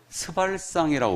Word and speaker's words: 스발상: 그래서 이자를 스발상이라고 부릅니다. 절대 세게 발음하면 안 돼요, 이거.